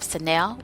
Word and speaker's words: Sanel: So we have Sanel, which is Sanel.